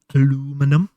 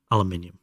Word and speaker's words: aluminium: We need 4 aluminum. Aluminium.